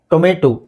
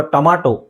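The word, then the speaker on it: tomato: ಕ್ಯುಕಂಬ ಏನ್ಹೇಳಿ ಕ್ಯು ಕಂಬ ಕ್ಯೂ ಕಂಬ ಕ್ಯುಕಂಬರ್ next ಟೊಮೆಟೊ ಅಥವಾ ಟೊಮಾಟೊ ಅಂತ ನಾವು ಹೇಳ್ತೀವಿ ಅದರ ಸರಿಯಾದ ಉಚ್ಚಾರಣೆ ಏನು ಸೋ 25 ತಗೊಳೋಣ ಇವತ್ತಿನ ವಿಡಿಯೋದಲ್ಲಿ ಸಾಕು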